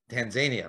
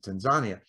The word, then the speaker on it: Tanzania: We Westerners, we Tanzania, right? Because that's how phonetically it looks, but they pronounce it Tanzania.